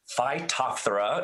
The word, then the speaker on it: Phytophthora: what is a phytophthora so um um it's pronounced phytophthora as you've heard me say so you can